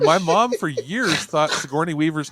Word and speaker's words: Sigourney: And my mom was like, no, you're saying it wrong. I'm like, what? I'm like 10 years old. I'm like, that's not how you... Her response is, yeah, the G's silent, right?